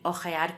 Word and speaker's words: hojear: Y como la letra "h" es muda, hay algunas palabras que, aunque se escriben de forma distinta, se pronuncian igual. Como "hola" con "h" y "ola" sin "h" y "hojear" con "h" y "ojear" sin "h".